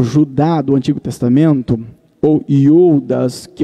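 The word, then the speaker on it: Ἰούδας: Em hebraico, ou na verdade no grego, Judas no grego, se lê Iodas. Essa seria a pronúncia correta do nome Judas, Iodas.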